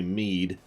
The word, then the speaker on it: Mid: Gotta observe Sid Mid, too. Excuse me, Mead. Because stupid pronunciations.